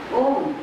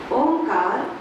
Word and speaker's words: ओम: उसके बाद ही पवित्र ओम शब्द का उच्चारण खुली आवाज में करना है ओ दो तिहाई म एक तिहाई अंजन बी रेडी बंद